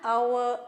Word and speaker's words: hour: The train came an hour late because H is silent here.